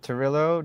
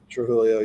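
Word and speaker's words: Trujillo: Robert Turillo. Did I say his name right? I think Trulio. Yeah. He's Trillio.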